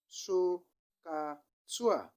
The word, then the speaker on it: SOHCAHTOA: for each of these trigonometric ratios, which is pronounced as SOHCAHTOA.